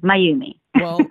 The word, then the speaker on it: Mayumi: my Y or ume because my name spelt ma why you mi and I have gotten like so many different variations of pronunciation name that I'm like let me help you so it's mine you me my you me we're looking at your